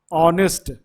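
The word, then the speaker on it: honest: उसी तरह ऑनेस्ट, ऑनेस्ट, ऑनेस्ट क्या आ रहा है?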